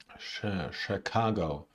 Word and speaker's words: Chicago: shape shape Chicago Chicago the second syllable is stressed Chicago Chicago Chicago chef chef